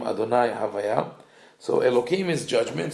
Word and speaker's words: Adonai: The word Adonai, even though we pronounce it as Adonai, which means my master or master of the universe, it is written famously as Yud and then Hey Vav Hey.